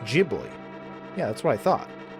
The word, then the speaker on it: Ghibli: It's Studio Ghibli, but pronounced Jibli. Yeah, that's what I thought. But then, but then Truth said hard G. In Japanese, it's a soft G, but in America, you're allowed to be correct.